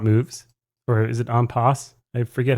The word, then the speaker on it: en passant: And then we have en passant moves, or is it en passe? I forget how to pronounce this. Chess tense. Not that it matters. In passing. En passant. That's how everyone pronounces it.